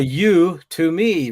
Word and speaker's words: Udemy: yeah, So you to me, right?